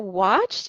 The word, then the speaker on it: watched: Yubi says that watched is pronounced with a T sound.